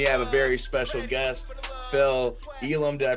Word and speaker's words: Phil Elam: with me i have a very special guest phil elam did i pronounce that correctly that's absolutely correct awesome awesome